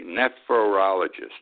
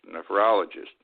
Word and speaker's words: nephrologist: to pronounce this correctly nephologist neph nephologist nephrologist uh and he told